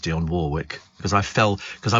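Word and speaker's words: Dionne Warwick: duet with Dion Warwick and I know it's pronounced Dion Warwick because I fell cuz I went to here in concert and she came in for an interview and it's people used to say Dion Warick and I went no Dion Warwick and she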